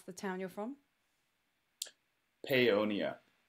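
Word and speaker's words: Paonia: And tell me how to pronounce the town you're from. Peonia. Peonia.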